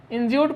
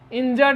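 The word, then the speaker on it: injured: Next इंजर्ड, बहुत सारे लोग इसको इंज्यूर्ड पढ़ते हैं, नहीं, इसका सही उच्चारण इंजर्ड है, यू साइलेंट होता है यहाँ पर, या यू हम कह सकते हैं कि अ बन जाता है।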